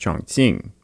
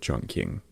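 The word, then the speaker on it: Chongqing: attack on Chun King which should be pronounced chonging but all the old books always call it Jun King can't you figure some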